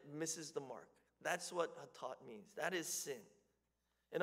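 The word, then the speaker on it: חטאת: The general word for sin is hatat. Okay, hatat. You would spell it something like this in English.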